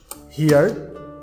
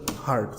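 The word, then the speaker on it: heard: Past form হচ্ছে হার্ড, অনেকে আমরা ভুল করে এটিকে উচ্চারণ করি হচ্ছে হিয়ার। সো হিয়ার উচ্চারণ করবে না, এটির উচ্চারণ হচ্ছে হার্ড।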